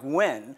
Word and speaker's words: Nguyen: Vietnamese by heritage and my last name is pronounced in the United States as close as possible like when so I'm here today